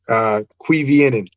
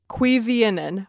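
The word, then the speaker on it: Cuiviénen: Cuivienen. Cuivienen.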